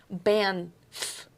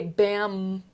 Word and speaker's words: Banff: Okay, because you put a M in there instead of an N. Banff. Okay. Banff. Banff. You But- say Bam. Yeah. Well, that's because that's how you're pronouncing it. It sounds like Banff. The N and the M get lost is what's happening.